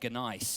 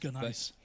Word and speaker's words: gneiss: I was saying gneiss. Yes, gneiss. You drop the G, don't you? Just say nice.